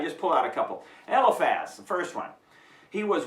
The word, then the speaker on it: Eliphaz: Okay, the friends, Eliphaz, Bildad, and Zophar. At least that's the way I pronounce them.